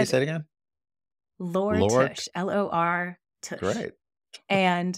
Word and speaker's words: Lore Tush: Lore Tush, L-O-R Tush.